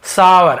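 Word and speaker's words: sour: अब खट्टा, इसे हम सावर, सावर ऐसे पढ़ते हैं, ठीक है। सावर, सावर लेते हैं, सावर थोड़ा सा वो रहता है, कई लोग शोर बोल देते हैं जो कि थोड़ा सा गलत है। सावर एक्चुअल प्रोनाउंसिएशन।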